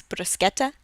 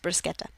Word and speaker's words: bruschetta: pronounced Brunelleschi this SCH the CH before an i in Italian makes a k sound so it's bruschetta just fun fact it's pronounced bruschetta not bruschetta okay both of the